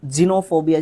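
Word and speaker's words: xenophobia: ये ठीक है ओके जीनोफोबिया जीनोफोबिया इसको प्रोनाउंस करते हैं सबसे इंपॉर्टेंट चीज है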